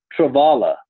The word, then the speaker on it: Travala: Travala, I wasn't saying it right, Travalata.